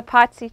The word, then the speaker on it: Pazzi: The Pazzi Chapel. Spell it. P-A-Z-Z-I, like pizza. Pizza, Pazzi.